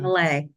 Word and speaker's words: Millet: Is that the right way to pronounce it? Malay. Millet? Malay, yeah. Millet. Oh, very I know, my European.